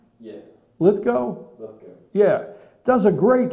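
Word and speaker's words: Lithgow: that yeah that's him is that how you pronounce his name yeah litho litho yeah does a great Churchill in fact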